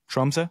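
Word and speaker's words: Tromsø: do you say it truma truma yeah the o with a line through it the o with a line through it goes uh like you're getting punched in the stomach Trump uh like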